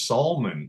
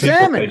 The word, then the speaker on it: Salmon: My last name's Salmon, and it's Salmon on the show.